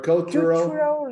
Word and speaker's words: cultural: I explained that you can only pronounce Q when you have a sequence of vowel, consonant, vowel. Here you have U, L, T, two consonants. So it would be impossible to say Q.